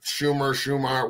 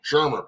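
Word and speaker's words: Shurmur: But I'm praying to God that Pat Schumer, what, how do you say his last name? Shermer. Pat Shermer.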